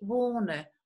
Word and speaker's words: wohne: Ich wohne, wohne. La H que sigue después de una O no se pronuncia.